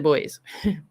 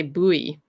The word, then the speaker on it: buoy: hawk it's where the boys i think in america you guys say buoy we say boy so are the pronunciation